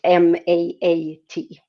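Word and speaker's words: Ma'at: in ancient Egypt is portrayed as the goddess Mahat. Uh it's spelled M A T Mat.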